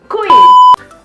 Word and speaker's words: kui: Bahasa gaul yang ketiga, c'est kui. Couille. Kamkas kui. Non. Ça s'écrit pas du tout pareil, hein.